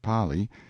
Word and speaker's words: Pali: precipice of the Pali, pronounced Pali. Intelligent natives claim that there is no R in the Kanaka alphabet, in front, and then were driven over, a sheer plunge of 600 feet.